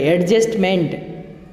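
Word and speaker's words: adjustment: डी जो होता है ये इसका प्रोनाउंसिएशन नहीं होता है, और MENT को भी मंट पढ़ा जाता है। एडजस्टमेंट, ये टी भी साइलेंट होता है।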